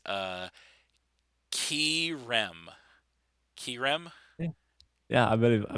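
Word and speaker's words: Kyurem: I always my my my knee-jerk reaction is to say Kyram. I don't know why, but you know, we all know that's wrong. Anyway, um but it was the uh the Krem that uh put in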